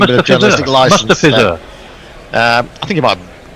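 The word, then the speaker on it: Mustafizur: It said, "It's been marvellous listening to Tony Bishop trying and failing to pronounce Mustafizar. We've had Mustafiz, Mustafa, Mustafa, Moustache.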